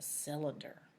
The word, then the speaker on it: cylinder: It sounds like it should be an S. But when CY is together, it makes this sound. And another word that has a CY making that sound is bicycle.